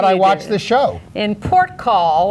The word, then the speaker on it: Porthcawl: watch the show in port call or Porthcawl I think it's pronounced port call could be either the local government has